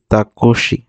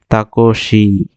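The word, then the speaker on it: タクシー: যায় বাস তারপর দিয়েছি তাকশি টেক্সিকে বলতেছে তাকশি এখানে দেখেন যে এক আলিফের মতই আছে এটা না দিলে আপনার ভুল তাকসি তাকসি এটাও দেখেন ট্যাক্সির কাছাকাছি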